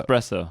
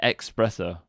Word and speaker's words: espresso: to say it espresso espresso i'm saying it right then right you know you're saying expresso espresso that's right that's better so i forgive you